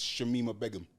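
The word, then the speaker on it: Shamima Begum: It's Shemima Begum.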